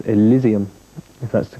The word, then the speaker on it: Elizium: the album the brand-new L which is called Elysium if that's the correct pronunciation yeah okay which is the new album